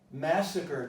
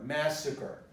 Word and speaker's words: massacre: Massacre takes the stress on the first part, so the pronunciation changes.